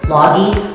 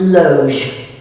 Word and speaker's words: loge: fun one i know it looks like it should be pronounced logi or i don't know it's pronounced loge and um a lot